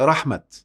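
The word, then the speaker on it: رحمت: تاء هنا مفتوحة مع إنها بتتنطق رحمة. فبما رحمة من الله لنت لهم، دي في آل عمران.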